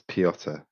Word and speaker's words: Pott: Is it? How do you say your name? Oh, you're muted by the way. Yeah, it's it's Pott.